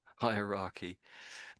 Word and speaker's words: hierarchy: So, it's got this ary bit on the end. So, just as in democracy, you might say. Is that right? No, it's different, isn't it? Hierarchy. Democracy. No, not democracy, but hierarchy.